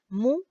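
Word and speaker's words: μ: Mu o mu o mi, depende de cómo lean la pronunciación. La vi de varias formas.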